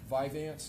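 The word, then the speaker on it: Vyvanse: Um, Viveance, is that how you pronounce it?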